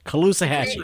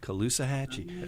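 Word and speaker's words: Caloosahatchee: time how do you say how do you pronounce it K hatchee kaloa hatchee it's named after a real River in Florida kaloa hatchee all right have you uh have you uh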